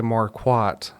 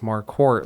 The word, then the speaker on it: Marquart: And so that's why when I started practicing law, I I told everybody it's Mark Court, like a quart of milk.